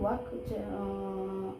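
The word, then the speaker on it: walk: ওয়াক, नोआ ना हो प्रोनाउंस हुआ, एल दो साइलेंस तहना ओनाते वाक प्रोनाउंस हुआ।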